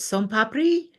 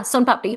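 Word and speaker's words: सोन पापड़ी: Is it son papri? Oh yeah, son papdi.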